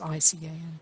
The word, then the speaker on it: ICAN: we can i can if that's how you pronounce i-c-a-n you do pronounce it i can but yes i can